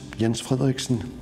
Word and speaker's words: Jens Frederiksen: My name is Jens Frederiksen, to pronounce it in Danish.